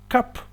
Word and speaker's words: cup: café, utilizamos la palabra cup. Cup, que se escribe C-U-P, pero se pronuncia con una A, significa taza.